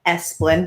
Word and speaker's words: Esplin: today to be able to interview esplin did i pronounce that correctly yes oh good okay um